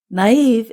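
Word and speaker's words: naïve: Naive is spelled n a i v e and we put two little dots above the letter i to show that we pronounce that vowel separately.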